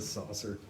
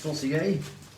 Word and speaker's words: saucier: Janelle said a saucer. A saucier. I believe it's pronounced saucier.